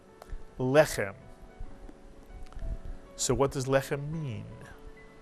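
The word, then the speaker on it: לחם: a final mem, and the word is pronounced lechem. And notice in this word, the accent is on the first syllable.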